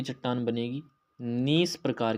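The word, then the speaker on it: gneiss: रखना जी से ग्रेनाइट और जी से नीस नीस में जी साइलेंट रहता है ठीक है ग्रेनाइट एक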